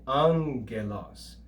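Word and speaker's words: ἄγγελος: not as ag but the first gamma is pronounced like an n or a nu and we read this as an and that's the greek word for angel okay angelos but it's actually spelled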